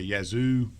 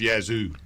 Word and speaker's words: Yazoo: I love it when people say uh they try to say Yazoo. You know, they're not from around. Yeah, that's right. They'll do the like there'll be a YouTube video on the witch of Yazoo. Yeah. And then it'll be some guy that's doing it randomly, you know, and he's learned the story and it's always a giveaway when they say Yazoo. Like that ain't right, man.